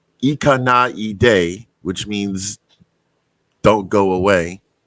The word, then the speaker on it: 行かないで: Okay, first of all, I pronounce it wrong. I mean, I don't know, but so it's Ikanaide, which means don't go away.